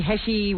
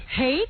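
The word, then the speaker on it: Heche: Pretty soon, I guess that's coming because in People magazine, she actually admits that she and that Annie Heshy whatever her name is. Hate. I've learned. Hate.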